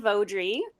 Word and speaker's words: Veaudry: I will I will use the correct pronunciation. Uh, hello. My name is Vaudry.